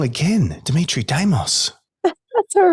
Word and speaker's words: Dimitrie Damos: hang on for the ride let's bring on Demitri damos I said it wrong again Dimitri damos that's all right welcome to fysio foundations thanks